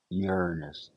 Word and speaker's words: Uranus: time in here but P Saturn is Uranus Uranus pronounce it that way please and here's a shot